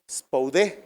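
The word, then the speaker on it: σπουδή: Y esta palabra de nuestro texto base se tradujo del griego spoudé, con acento en la E, y significa velocidad, significa rapidez, significa fervor, anhelo, prisa, prontamente, con solicitud.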